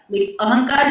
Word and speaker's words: अहंकार: तो अहम ठीक है लेकिन अहम से बनेगा अहंकार अहंकार जब बनेगा तो उसी अंग की मात्रा को न की तरह उच्चारण करेंगे अहम का मतलब होता